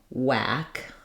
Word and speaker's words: whack: for this sound anymore wh used to be kind of uh have that breathy H sound before the W now it's just the same as a w sound so we just say